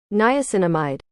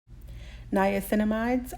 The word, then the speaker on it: niacinamide: this is how you actually say the word niacinamide niacinamide are a vitamin B3 found in food and